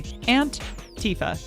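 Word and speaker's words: Aunt Tifa: Yes, which, if you guys don't know, Antifa, drag performer, this is spelled A-U-N-T space T-I-F-A. Antifa.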